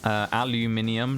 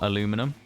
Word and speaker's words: aluminium: Got taught aluminium, not aluminum.